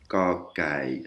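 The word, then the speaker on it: ก ไก่: ก อ ไ ก ่ Kokai, hein, c'est entre un que et un ge.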